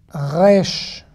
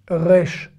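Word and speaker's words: רֵישׁ: un peu plus derrière mm rech rech où est ce que je veux dire vous pouvez le prononcer vraiment comme le r français ça vous donnera un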